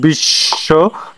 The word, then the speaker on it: বিশ্ব: 4 number, শব্দের শেষে বফলা থাকলে বফলার উচ্চারণ হয় না। বফলা যুক্ত ব্যঞ্জনটি দ্বিত্ব উচ্চারিত হয়, যেমন বিশ্ব, তারপরে বিদ্যান ইত্যাদি।